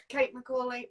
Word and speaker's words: Kate McCauley: So, it's Kate McCauley. Um, did I pronounce that right? Yes, you got it. Kate McCauley.